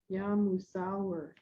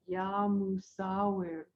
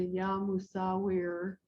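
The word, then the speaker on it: يا مصوّر: It's Musawwir, Ya Musawwir. And the last part, I roll my R. That is how it's said by a native speaker of the language, but you could say Ya Musawwir as an English way of saying it.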